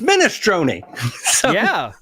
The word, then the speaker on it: minestrone: Because for starters, it is provolone. It is provolone. Secondly, it's minestrone. So you're taking this from the man who can't say bolognese.